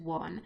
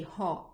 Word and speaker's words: ho: So I won't say ho, but I will say o, I, a, anno. So the H is there, but it's not pronounced at all.